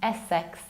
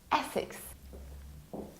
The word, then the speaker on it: Essex: It's not Essex. It's not pronounced like most probably the most popular S word. It's not sex, it's six. Like not 5, not 7, but 6. Essex.